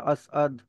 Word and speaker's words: असअद: कि जैसे ये असद नहीं है, असद बोलेंगे तो गलत हो जाएगा, थोड़ा सा आप इसको पॉज दे करके इसको प्रोनाउंस करना होता है, असअद। तो नॉट लाइक असद, असअद।